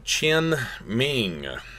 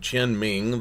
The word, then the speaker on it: Tian Ming: was this concept called Tian Ming almost kind of uh tin is almost kind of like ten but again kind of a faint chin ming almost has a ch there but mandate of heaven